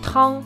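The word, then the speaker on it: 汤: La soupe en chinois se prononce Trang.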